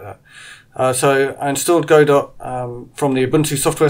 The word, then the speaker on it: Godot: experiments into playing with the gato game engine or sorry so should we go dot game engine I think it's pronounced which I've been looking